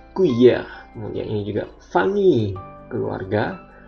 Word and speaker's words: cuillère: Seperti yang saya bilang sebelumnya, C diikuti A, U, O dibaca K. Cuillère.